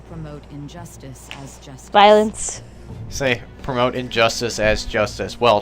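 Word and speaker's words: Sae: amidst your obsession success her name is say that's how she pronounced it Madame say Nima a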